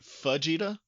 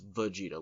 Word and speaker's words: Vegeta: you kept calling it Fajita, like a fajita that somebody's mispronouncing. Fajita. No, it's Vegeta. Like Vegeta.